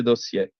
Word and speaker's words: dossier: Ciao Antonino, ricordati di pronunciare correttamente dossier, che si legge dossier.